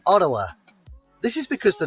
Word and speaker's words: Ottawa: Locals will tell you that Ottawa is actually pronounced Ottawa.